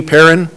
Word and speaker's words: Perrin: next speaker is Perrin nope Perrin not pronounced the way of a former First Lady of Argentina and she is